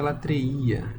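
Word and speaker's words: λατρεία: Diz o seguinte, olha, se pronuncia latreía e significa originalmente serviço, tá bom?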